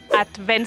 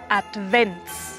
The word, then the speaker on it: Advent: en esta primera parte debemos separar bien las sílabas y acentuar bien la d al final de la primera sílaba y pronunciarlo como una t at and Benz debemos pronunciar la v como una W alemán colocando los dientes superiores en el labio inferior ya que advent es una palabra que viene de latín la ts es un